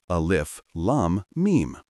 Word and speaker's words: Alif Lam Mim: For example, while Alif Lam Mim is written together, it is read syllable by syllable, letter by letter, as Alif Lam Mim.